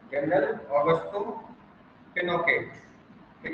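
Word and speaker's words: Pinochet: general Augusto, ठीक है ना, जनरल ऑगस्टो पिनोकेट, ठीक है ना, पिनो से भी बोलते हैं इसको, जनरल ऑगस्टो पिनोसे, प्रोनाउंसिएशन इधर करना पिनोसे, एंड आर्मी जनरल, ठीक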